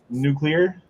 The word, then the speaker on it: nuclear: that word nuclear nuclear it's spelled new clear nuclear okay I guess I